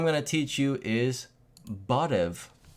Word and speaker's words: barev: First word I'm going to teach you is barev. How do you spell that?